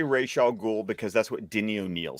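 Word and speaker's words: Ra's al Ghul: determine um yeah I call I I say Rachel ghoul because that's what Denny O'Neal says I've heard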